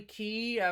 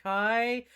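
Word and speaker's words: χ: Heart, light, dark, memories, something about time travel, key you, key me, X, but actually key, sometimes pronounced Kai.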